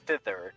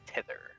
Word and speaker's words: thither: like the word is thither, not tither.